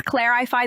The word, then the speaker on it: clarify: Could you please clarify that for me? Clarify. Stress is on the first syllable. Clarify, not clarify.